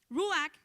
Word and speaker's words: ruach: Este espíritu es del sustantivo hebreo ruach, creo que se pronuncia así, hermano, ¿verdad? Yo no soy experta, pero no sé si alguien, o ruach, ¿verdad? Ruach, dice doña Vivian, ok, que significa viento, aliento y espíritu.